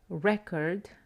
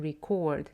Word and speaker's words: record: The same goes with record, the noun, and record, the verb.